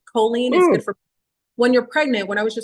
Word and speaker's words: choline: sorry I think it's ch h o choline choline that's what it is c h o l i n e choline is good for when you're pregnant when I